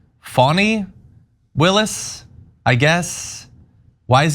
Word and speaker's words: Fani: Nathan was the special, in more ways than one, prosecutor engaged by Fani," pronounced Fani Willis, I guess.